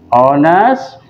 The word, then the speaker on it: honest: Nah, untuk ini lagi dulu, misalkan lagi gadis jujur, honest girl, atau on ini? Pengucapannya haknya nggak dibaca, bacanya honest girl, maka menggunakan adalah an.